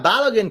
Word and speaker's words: Balogun: Yeah, Balogun kind of rhymes with Caroline.